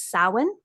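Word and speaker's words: Samhain: the Witchcraft Community Halloween is also known as Sin it's spelled s a m ha a i in and it's pronounced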